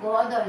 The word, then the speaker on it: গদ্য: তারপরে শব্দটি দেখো গ দয় জফলা। কিভাবে উচ্চারণ করব? গদ্য, গদ্য, দুটি দ আসছে।